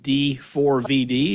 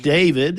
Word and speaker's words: D4vd: Well, so what we know is that it's not pronounced D4 VD, it's pronounced David.